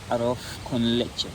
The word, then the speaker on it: arroz con leche: Arroz con leche.